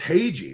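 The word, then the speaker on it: Hage: back end here we have Michael it's it's Hai right that's how it's pronounced H ha Michael ha out of the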